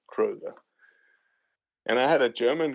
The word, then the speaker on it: Kröger: I just put a typical O, it's Kröger.